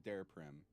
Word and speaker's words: Daraprim: I want to hear about the night where the news first came out, where you raised the price of Daraprim. Am I pronouncing that right?